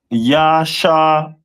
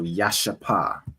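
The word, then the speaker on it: ישפה: And their stone is a jasper, which is pronounced in the Hebrew as Yashapa. So Yashapa.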